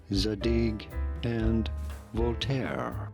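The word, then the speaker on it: Zadig & Voltaire: бренд задік і Вольтер зараз вставлю як правильно потрібно вимовляти його за дійки і вольтет in english to sayat задинь енд Волтер но ви зрозуміли поки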